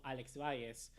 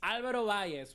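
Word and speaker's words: Álvaro Valles: And Ferran Torres does an incredible half volley through the legs of Alex Valles. And yeah, or is it Alvaro Valles? Am I saying his name wrong? It's Alvaro Valles.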